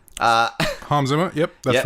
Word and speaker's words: Hans Zimmer: You've pronounced Hans Zimmer wrong. Hans Zimmer. Hans Zimmer.